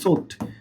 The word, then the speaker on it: sought: আর এইটার আরেকটা V2 V3 আছে, দেখো SOUGHT, সোট, ওকে, এইটাও V2 V3 এটা, এটা হচ্ছে কি V1, ওকে, ভার্বের ফার্স্ট ফর্ম আর কি, এটা second form, first participle form.